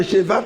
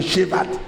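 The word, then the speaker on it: Shevat: Le mois de Chevat qui est le 11e mois du calendrier hébraïque. Le mois de Chev qui s'écrit S h e v a t. Le mois de Chevat.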